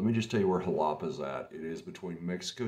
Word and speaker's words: Xalapa: on jalapa let me just tell you where halapa's at it is between mexico city and veracruz